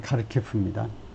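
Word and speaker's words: Kharkiv: 나와 있던가요 카르키프 그리고 카르키프 발음은에 그 우크라이나 쪽 발음은 좀 달라요 영국식 발음으로는 카르키프 예 하여튼 지난 주말에 러시아의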